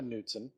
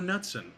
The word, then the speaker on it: Knutson: Hugo Nutson. Come on. No, Knutson. It's Knutson. Oh, I'm sorry. K is silent.